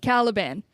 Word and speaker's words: Caliban: I forgot his name Taliban caliban uh just which rhymes with Taliban think about it think